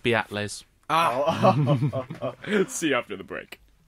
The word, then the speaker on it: Beatles: of them they're new on the scene it's pronounced beatles let's see after the break that was nice